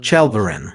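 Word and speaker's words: Chaldiran: in a battle called Chalvarin. Yes, the one with the guttural J sound, which the Turks sometimes pronounce as chi.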